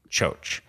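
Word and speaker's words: Txotx: called o boy uh Cho but it's spelled TX o TX oh cool but he says pronounced Cho um sure uh turns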